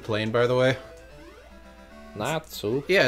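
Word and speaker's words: Natzu: place is called the natu plane by the way natu yeah it's like the Japanese pronunciation for nuts nuts oh yeah I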